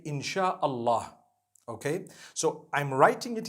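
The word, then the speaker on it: Insya Allah: s-y-a they pronounce it they pronounce the Sy the way we pronounce sh so they can write it how they want for as long as when people read it they read it insha Allah because a transliteration means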